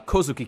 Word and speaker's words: Kozuki: Kousuke clan there their name you know it's pronounced Kazuki K means Kosuke clan and it's written with